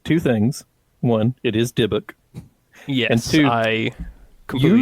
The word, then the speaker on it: Dybbuk: One, it is Dybbuk. Yes, and two, I completely screwed up the pronunciation.